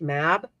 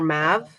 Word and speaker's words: Mab: It is so it is one of those things where it anglicizes to Maeve, but it is generally pronounced Mab. Okay. Or Mav.